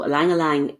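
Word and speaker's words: ylang-ylang: would be alangalang so alangalang it's pronounced e but it's spelled y so it's y l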